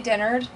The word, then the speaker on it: Dennard: right which is fine I say Dennard but most people say Dennard which is probably the correct way to say it but my family's from